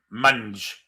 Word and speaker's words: Mendes: Far side of the pitch where we have Mendes. Of course, they pronounce that different. Mange. Because his name was Mendes, I guess.